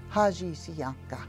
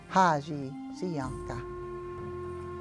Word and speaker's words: haji siyanka: Haji siyanka. Haji siyanka. That's the word for pepper. Five syllables. Ha, ji, si, an, ka.